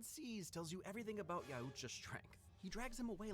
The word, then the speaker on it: Yautja: He's saying it the fucking weird way. The weird way from how like a lot of the narrators in the audiobooks pronounce it. Yautja. When it's just Yautja.